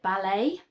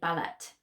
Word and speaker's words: ballet: about the the word ballet that we use in English which is obviously a French word and we never say ballot although we write it with a T on the end so remember your silent